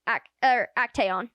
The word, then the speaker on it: Actaeon: So we learned that Lydia has two sons, Bran and Actaeon.